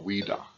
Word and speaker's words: Ouidah: In the French, O-U-I is oui, so Ouidah.